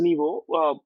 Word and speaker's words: NYVO: So Nibo Nibo it's pronounced as Nibo.